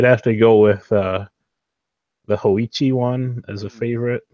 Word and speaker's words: Hoichi: Let's have AJ Hoichi, try to pronounce it. yeah, AJ It's definitely Hoichi.